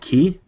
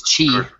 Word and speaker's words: Qi: I'm going to pronounce it wrong. I think it's called QI. Okay. I think it's Qi.